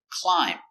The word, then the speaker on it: climb: Example, climb. Remember, silent B, climb.